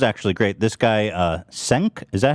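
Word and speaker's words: Cenk: here this was actually great this guy uh senk is that how you say his name uh oh jank from the young turks he's like hassan's uncle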